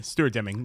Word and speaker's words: Stuart Deming: My man, Stuart Deming, my first time actually formally, did I say it right? Yeah, Stuart Deming.